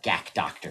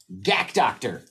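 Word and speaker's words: GAC DR: red fan brush handle they say g-a-c-d-r gak doctor it's the best way I know how to put it that's why I know how to say it gak doctor right and they're awesome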